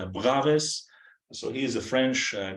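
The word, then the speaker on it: Bravais: uh yeah I believe this is how people pronounce uh bravis and I have heard like Braves so he is a french guy so you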